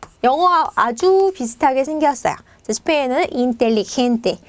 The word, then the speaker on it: inteligente: 스페인어는 inteligente. 자, 얘는 리을 발음이 나요. 텔리 이렇게.